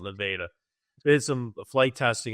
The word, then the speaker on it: Nevada: They call it Nevada. It's spelled Nevada, but they call it Nevada.